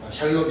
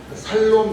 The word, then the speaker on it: 샬롬: 어 발음이 잘못돼 가지고 살놈 이렇게 해도 괜찮습니다. 죽을놈은 아니잖아요. 예. 살놈. 살놈이다. 괜찮아. 발음이 좀 틀려도 괜찮습니다.